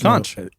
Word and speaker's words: conch: Well, I mean, you Episode- didn't know how to say it, so it's Conch.